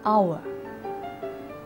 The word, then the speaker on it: hour: the hedge that means the letter H is present but it is not sounded for example in an hour if you think or